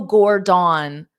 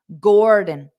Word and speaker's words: Gordon: but it's unstressed so you have to pronounce the gore louder and longer and then the D very fast D Gordon Gordon Gordon so remember